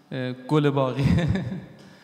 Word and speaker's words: گلباغی: یعنی گل باق، و توی هلندی خیلی بد تلفظ میشه، توی حالا فارسیش یه مدار چون هلندی ها گه ندارن و به جای گه خه میگن.